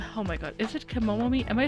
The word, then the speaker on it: Kemono: Many oh my god, is it Kemono? Am I saying it correctly? Because the text is throwing me off. Yeah, it is Kemono.